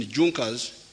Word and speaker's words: Junkers: It is written Junkers, but they pronounce it Junkers, that saw the importance of a united German market.